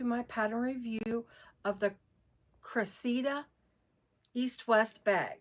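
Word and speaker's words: Cressida: Welcome to my pattern review of the Cressa East West bag. I' It's spelled C R E S S I D A.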